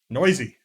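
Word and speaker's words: Neuse: Oh, we're both wrong. Can you guess what it really is? Nice. Nope. Noisy. Sheldon Noisy.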